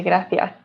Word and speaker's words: gracias: spanish tv show so in many south american countries we say gracias so we don't really have a very strong accent but in spain they definitely say gracias so they pronounce it with a kind of like a lisp some people say it's